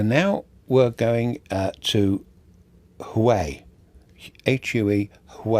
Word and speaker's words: Hue: So now we're going to Hue, H-U-E, Hue it's pronounced.